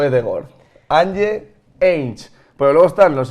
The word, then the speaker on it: Ange: ¿Ange o Ange? Ange. Ange Postecoglou. Sí. Ange Postecoglou, ya está.